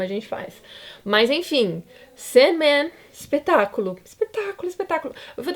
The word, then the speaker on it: Sandman: né o certo é sen Man tá então a sílaba tônica é o Man inclusive Batman né enfim a pronúncia deveria ser puxada no Man e não no Bat como a gente faz